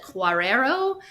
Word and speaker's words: Guerrero: And then someone else mentioned this woman, Alicia, I think you pronounce it Guerrero, who is originally from Cuba and very much involved.